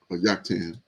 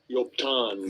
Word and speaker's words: Joktan: And his brother's name was Joktan. We get to Joktan. We looked at this one before for the sake of Yoktan. Strong's H3355. Yoktan. Yoktan Yoktan.